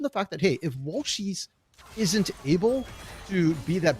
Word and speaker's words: Walshies: Walshies, not Walshy, but Walshies, and S.